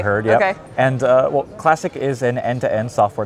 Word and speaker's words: Classiq: so I only learned this year that it's pronounced classic and not classique so that was a big learning opportunity for